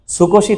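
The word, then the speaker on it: 少し: বলা হচ্ছে তাকসান আর অল্পকে বলা হচ্ছে কি স্কশি কি বলা হচ্ছে স্কশি বলেন আমি কম খেয়েছি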